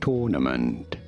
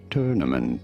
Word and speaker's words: tournament: You don't want to stress on the first syllable in American English. However, this is usually said as tournament. Yeah. Tournament in American English versus tournament in British English.